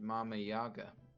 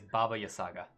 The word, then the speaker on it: Baba Yaga: have to go find mama yaga well that's one way to say her name but old late the one lady is baba yasaga not bob not not mama yeah i think it's the